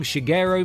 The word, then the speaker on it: Shigeru: the game flopped and nintendo tasked a young shigeru miyamoto to develop a betting guerrilla that's not how you say his name alongside